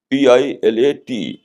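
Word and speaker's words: Pilate: English میں اس کو کہتے ہیں PILAT. یعنی وہ بھی وہاں ہے لیکن اس کی اسپیلنگ اس طریقے سے، عربک میں پہ یہ لام الف تو پیلات، اور انگلش میں کہیں گے PILAT پیلٹ.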